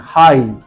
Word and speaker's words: high: Then हाई, HIGH, हाई, हमने GH को पढ़ा ही नहीं है।